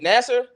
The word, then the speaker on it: Nassar: london brown nasser ocean how do you pronounce i always feel like i'm a with his last name nassar yeah nassar you're the first person that's ever said it